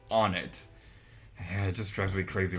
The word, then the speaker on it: Onett: more of on it h and no the pronunciation is not not one it it's on it it just drives me crazy when I hear